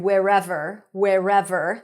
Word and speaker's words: wherever: First of all, the word wherever, that's a little tricky because of the W and the R. So just, if it's hard, just say it a few times.